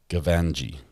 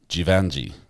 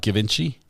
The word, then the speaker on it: Givenchy: very quickly as well three syllables Givenchy gavanji givenji holy it's not Givenchy defense Diaries posts a